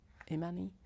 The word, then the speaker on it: Imani: I know the first name is Ammani. Imani.